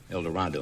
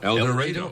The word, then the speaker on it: El Dorado: El Dorado. No, El Dorado. Oh, boy. Pronounced with long A.